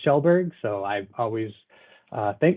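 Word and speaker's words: Skjellberg: is not a uh the easiest name it's pronounced shelberg so I've always uh thank my father for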